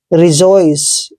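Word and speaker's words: rejoice: दोस्तों आर का उच्चारण हमेशा रे करते हैं, क्या करते हैं, रे, और ई को ई की मात्रा पढ़ते हैं, और जे का उच्चारण दोस्तों हम करेंगे जे, और ओ को ओ की मात्रा पढ़ते हैं ऐसे। आई को यहाँ पे ई भी पढ़ सकते हैं आप, ठीक है, ऐसे ई, और CE का उच्चारण से करेंगे। रिजॉइस, दोस्तों रिजॉइस का मतलब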